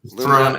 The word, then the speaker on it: Luminara: Like the Lum Like the uh old Chevy car. Yep. The Luminar. The Luminina. We talked about Aluminina earlier, too. Yeah. Um, Luminara and Aluminina.